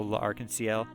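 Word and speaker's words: L'Arc~en~Ciel: Alchemist that I know is also La Aransel. Um, and that's definitely how you pronounce it because French Moriito OP creditless.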